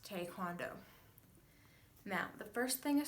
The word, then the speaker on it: Taekwondo: Now, you might have heard Taekwondo being pronounced as Taekwondo, which is incorrect. Anyone who has properly taught it or has learned it will know that it is pronounced Taekwondo.